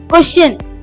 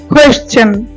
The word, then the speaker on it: question: কোশ্চেন, এটা হবে কোয়েশ্চেন, কোয়েশ্চেন।